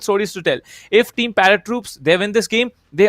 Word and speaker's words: ParaTroops: he please parrot troop okay it's parrot troops okay okay okay i'm sorry but is it is it paratroops let me just say yeah it's parrot troops it's not paratroopers i think i was